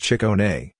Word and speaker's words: Ciccone: Mr. Ciccone, pronounced chick-OH-neigh, was with Madonna from just about the beginning.